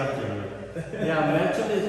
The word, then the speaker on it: Melchum: It's pronounced Melchum.